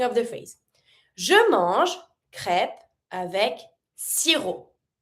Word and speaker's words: crêpes: Je mange crêpes avec sirop. Don't pronounce the P.